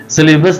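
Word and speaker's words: syllabus: इन्होंने वर्ड पूछा है सिलेबस, तो ये इसका एक्चुअल प्रोनाउंसिएशन है सिलेबस। सिलेबस नहीं बल्कि सिलेबस।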